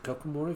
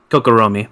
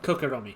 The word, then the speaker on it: Kokoromi: But no, it's just like, welcome, everyone, to Kokomori Village. Did I pronounce that right? Kokoromi. Kokoromi. Yes.